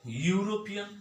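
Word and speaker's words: European: আবার ইউরোপিয়ান, এখানে ইউ, ইউ এর মতো উচ্চারণ হয়েছে। এটা কার মতো উচ্চারণ হয়েছে?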